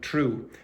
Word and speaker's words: through: Okay, so if she's old like me, she'll probably prefer to say through. But young people in London are starting to say things like true, and she probably hates